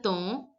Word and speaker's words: temps: Si le temps, you all know that EM is pronounced as O in French, the way you pronounce EN. Si le temps le permet.